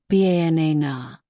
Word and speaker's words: banana: For example, in the word banana, the stress is on the second syllable. Banana.